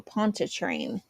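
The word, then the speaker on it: Pontchartrain: Pont Train. Yes. Cold star for Jamie because I pronounced it right.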